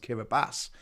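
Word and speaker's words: Kiribati: the Pacific Ocean it's spelled kabati but it's pronounced kabas and that straddles not just the Northern Hemisphere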